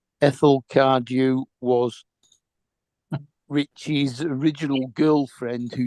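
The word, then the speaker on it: Cardew: you spell that Ethel e t h e l c a r d e w as in cardu Robinson you oh yeah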